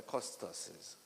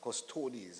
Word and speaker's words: custodes: of one of the costes uh custodes I think is the proper pronunciation um uh one of